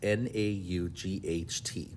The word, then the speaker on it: naught: 0 stands for not n-a-u-g-h-t it's kind of pronounced just like not okay but it's naught